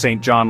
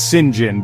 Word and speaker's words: St John: named St John and no it's not pronounced St John like a normal name it's Singin because the English love to confuse everyone St John proposes to